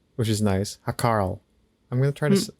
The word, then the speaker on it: Hákarl: Yeah, it's like HA with an accent, KARL. Hákarl? Hákarl? I don't know. Hákarl.